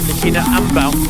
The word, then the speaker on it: Likina Amebaw: But Amebaw now, and apparently that's the correct way to pronounce it, Likina Amebaw, 46.20 at 18k, and 3:05 for her.